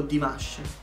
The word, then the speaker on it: Димаш: О, Димаш. Мы итальянцы, мы это так произносим.